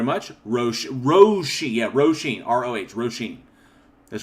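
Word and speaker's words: Róisín: Roisin. That's right. Roisin. Oh, okay, I got R-O-H, R-O-W, and Johnny told me R-O-E. All of them are pronounced Ro. So, Roisin.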